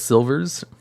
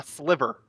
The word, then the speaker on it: Sliver: you should look at silvers what's silvers uh sliver not slivers uh they're an archetype